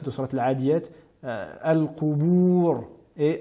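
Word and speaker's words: القبور: Nous avons souvent tendance à les entendre prononcer de manière emphatique al-qubur, mais bien al-qubur et as-sudur et non as-sudur.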